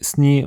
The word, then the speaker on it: sněh: Donc neige se dit sneak en bas sorab mais sny en haut sorab. Le h est souvent mué.